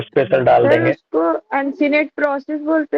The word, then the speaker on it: uncinate: उसको अनसिनेट process बोलते हैं। हाँ, शायद यही है। क्या बेटा? अल्सिनेट प्रोसेस, अल्सिनेट, तो अल्सिनेट प्रोसेस, हाँ अल्सिनेट प्रोसेस, अन हाँ वही अन Uncinate. अन अन अनसिनेट, अनसिनेट है अमित।